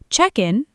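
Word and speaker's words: check-in: Check in, noun, hyphenated, stress on check, equals the process, the desk.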